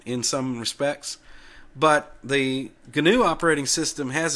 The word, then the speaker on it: GNU: software uses the ganu general public license and ganu is the correct pronunciation as per Richard stalman okay it's not just gnu anyway uh and Richard stalman for many years